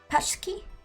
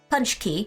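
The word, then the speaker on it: pączki: I've forgotten how it's pronounced. Patchy? Patchki? Patchki? Hey Ninnas, how's it going? Though the bakery here gets to be 1,000 calories. That's a lot of calories. Punch key.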